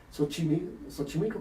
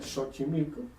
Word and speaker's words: Xochimilco: Xochimilco, que no se pronuncia Xochimilco, SH al principio, quiere decir la sementera de las flores.